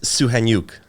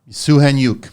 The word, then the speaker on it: Soukhaniouk: pronounce your last name uh it's suan yuk suan yuk yeah and I know how it's spelled here cuz Ro it's a c s o u k h a n i o u k yeah I think that's it what's the background again it's Ukrainian yours Italian Ito Filipino